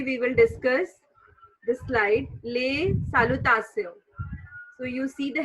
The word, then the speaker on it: les: So today we will discuss the slide Les Salutations. So you see the heading. This is Les Salutations.